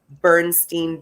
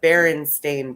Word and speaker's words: Berenstain: correctly uh for the i remember as a child thinking it was the bernstein bears right it's the berenstain bears i said it wrong but i can't pronounce